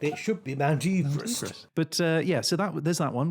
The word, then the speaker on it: Everest: So number 1 is Mount Everest. That's in Nepal, in the Himalayas. Everyone pronounces that incorrectly, as you'd well know.